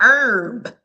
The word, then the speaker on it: herb: The H is silent, like an herb. What's a herb? The H is silent.